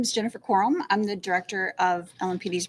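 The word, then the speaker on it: Crum: it up to or bring uh up Jennifer corm she's our director of our realtime crime Center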